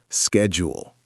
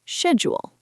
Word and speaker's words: schedule: And schedule can be pronounced two ways. In American English, schedule. In British English, schedule. Both are correct.